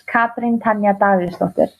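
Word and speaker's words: Katrín Tanja Davíðsdóttir: So how I pronounce it in Icelandic is Katrin Tanja Davíðsdóttir. Oh, wow. Okay. Mm-hmm. And so Katrin. Yeah, but since I started CrossFit, the announcers have always just gone Katrin Davíðsdóttir. So it's easy. People can pronounce it, and that's just kind of what I say. But in Icelandic, it's Katrin Davíðsdóttir.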